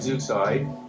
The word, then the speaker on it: Zooxae: So Zeuxide, we pronounce it Zeuxide, is a shortened version of Zooxanthellae algae, which is the symbiotic algae found in coral.